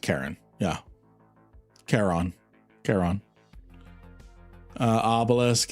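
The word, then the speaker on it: Charon: Sharon or Char? I've always called it a Sharon. I actually This is the Greek in me. I believe it's pronounced Kiron.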